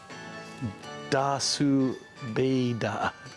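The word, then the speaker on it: ダース・ベイダー: Dasu Beida.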